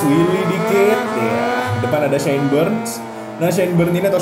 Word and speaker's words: Byrne: Namanya tulisannya B-Y-R-N-E, dibacanya Burn.